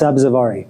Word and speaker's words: Sabzavari: How do you pronounce it? It's Sabzavari. Sabzavari.